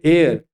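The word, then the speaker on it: heir: इसको पढ़ते हैं एयर। देखने में ऐसा ऐसा बुझाता है कि ये हेयर है, लेकिन वास्तव में इसका प्रोनाउंसिएशन हेयर नहीं होता है, एयर होता है।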